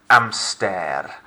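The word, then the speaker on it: hamster: guess number four an amster an amster you'll notice it looks like an english word it should be a fairly straightforward guess here but i'm frenching it up an amster silent h next song um now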